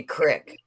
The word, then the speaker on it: creek: and isn't she special instead of Creek we say Crick like Stoney it's spelled